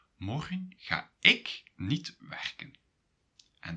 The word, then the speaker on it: morgen: Well, the stress is on the first syllable. So a syllable is morgen. Mor is the first syllable, gen is the second syllable.